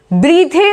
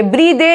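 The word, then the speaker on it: breathe: ब्रीद, ब्रीथे नहीं बोलेंगे, ब्रीदे या ब्रीथे नहीं बोलेंगे, दैट विल बी रॉन्ग, इसको बोलेंगे हम ब्रीद।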